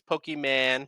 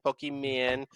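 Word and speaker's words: Pokémon: man i remember everybody nobody knew how to say it back in the 90s pokeman pokemon um exactly uh so my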